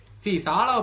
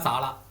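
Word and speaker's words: Salah: சாலாவை பொறுத்த வரைக்கும் நமக்கே தெரியுங்க, he needs 10 chances to score 2 goals. அதுதான் சாலா. அது நம்ம எல்லா சீசன்ல நம்ம பார்த்திருக்கோம். சாலா இல்ல, நம்ம தப்பா ப்ரொனவுன்ஸ் பண்ணோம்ல, சலா.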